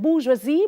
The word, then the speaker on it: bourgeoisie: It's French, so it is spelled bourgeoisie, but it's pronounced bourgeois.